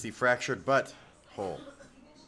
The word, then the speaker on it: The Fractured But Whole: really singing Tuesday yes you're saying it wrong it's the fractured but whole you can't say it too fast or else it sounds like they're talking about an and